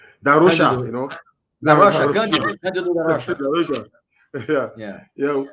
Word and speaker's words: da Rocha: Darosha, Cândido da Rocha, Darosha.